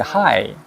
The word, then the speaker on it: high: 그게 왜냐면 이 사람들은 혀가 천장에 닿는 이걸로 발음을 하는 거야. 더러래. 이렇게. 도로리. 여기 이제, 이건 하이는 안 그렇지. 해보죠. hi.